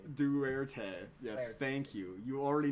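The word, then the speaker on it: Duterte: President Duberte. Duerte.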